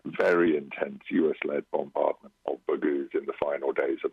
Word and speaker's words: Baghouz: So this is in the smaller towns like Baghouz. Is that how you say it? Baghouz, well, in fact, our latest monthly assessment is just for March.